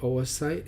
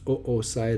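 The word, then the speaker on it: oocyte: so here's the secondary Oh a site and that's not pronounced Oh site or site some people call a site but Oh a site if that could be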